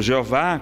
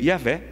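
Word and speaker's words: Yahweh: yavé por exemplo ou Jeová como é chamado Javé mas dizem os estudiosos que a pronúncia mais correta seria yavé yavé não seria por exemplo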